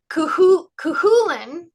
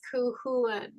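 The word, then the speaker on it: Cú Chulainn: You don't do the cut, it's Cuchulainn, I think. Cuchulainn, I think that's how you say it. Okay, thank you.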